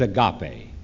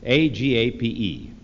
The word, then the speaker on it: agape: for the first two the third word is agape AGA pe sometimes pronounced agape AGA PE it was a word